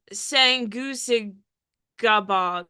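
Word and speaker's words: Sanguisugabogg: Bog, I'm sorry, I still can't pronounce the name. Nothing has changed. Let me give it a go. Okay, it is Sangusig Gabog.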